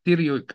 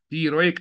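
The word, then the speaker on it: pteroic: احنا بقراها ترويك اسد بس هي غلط احنا المفروض نقراها تيريك اسد ترويك اسد ل البي لما تيجي بعديها تي بي تقيله لما تيجي بعدها التي غالبا البي ما بتنطق بينطق التي لوحدها زي كلمه توس مثلا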